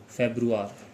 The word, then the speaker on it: Februar: उसके बाद फेब्रुआर।